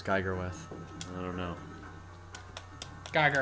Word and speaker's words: Geiger: Geiger rhymes with tiger.